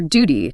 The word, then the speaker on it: duty: It's your duty to tune the new guitar. Feel that little J sound sneaking in for the British version. Duty, tune, new.